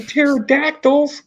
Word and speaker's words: pterodactyls: And pterodactyls. Pterodactyls. The P is silent, though.